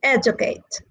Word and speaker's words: educate: And then the three syllable verbs are stressed on the first syllable, like educate, allocate, all right? And the four syllable words are stressed on the third syllable.